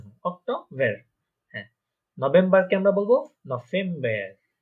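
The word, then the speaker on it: November: হ্যাঁ, নভেম্বরকে আমরা বলবো নভেম্বর। নভেম্বর, কারণ দেখেন এখানে একটা ভে যেটা আছে ভি, ওটা ফাও, তাই না? হয়ে যাবে নভেম্বর।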